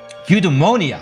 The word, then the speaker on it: eudaimonia: what is called your eudaimonia the eudaimonia of eudaimonia eudaimonia that's that's how we pronounce it I believe in English off of the art